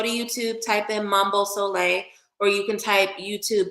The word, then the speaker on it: Sole': book a reading go ahead um it's Mambo solay the exact same way that my name is spelled here on Instagram if you type that